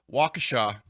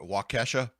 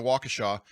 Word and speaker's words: Waukesha: what this is uh waukesha uh what's up matt walsh calls it wakasha i think he knows he's pronouncing it wrong waukesha locals describe the